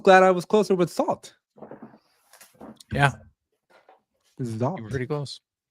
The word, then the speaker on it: XALT: pronounce this thing because I just keep thinking salt and pepper but I'm assuming it's not salt so it's it's like it's like salt with a z salt salt oh shoot I